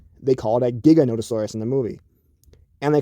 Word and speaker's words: Giganotosaurus: gigantosaurus um it's not gigantosaurus it's not gigantosaurus it's not neganosaurus it's giganotosaurus and they have the paleontologist